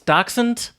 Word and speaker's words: dachshund: great da how do you say that DOX dachshund dachshund yeah mmm dachshund taco uh-huh well Jared